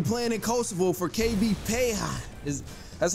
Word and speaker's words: Peja: and he's currently playing in coal for KB Paya is that's how you say it right KB